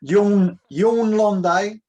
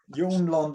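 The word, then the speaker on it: Jørn Lande: Yes, Jorn Londe. Oh, sorry, Jorn. Jorn Londe.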